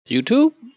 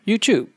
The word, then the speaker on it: YouTube: In general, American people pronounce it as YouTube, whereas British people pronounce it as YouTube.